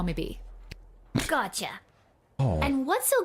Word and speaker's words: Bea: But you can call me B. Gotcha. Oh. And what's so great about this place? I still always pronounce B-E-A as beer rather than B.